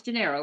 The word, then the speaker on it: Gennaro: Is that how you pronounce his name? It's Gennaro, right? Yeah. Okay, yeah.